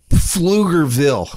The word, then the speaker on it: Pflugerville: you know that that said with with a hard silent P Pflugerville a hard silent wacky